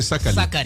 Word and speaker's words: Sakali: Donc c'est pas Kissien. Ça, c'est pas Kissien. Comment on prononce alors? C'est Sakali. Sakali. Parce qu'il n'y a pas, il n'y a pas de Z, il n'y a pas de R.